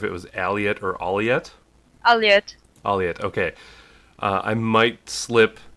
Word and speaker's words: Aliette: Yeah, I want to make sure I'm pronouncing it right because I wasn't sure if it was Aliette or Aliette. Aliette.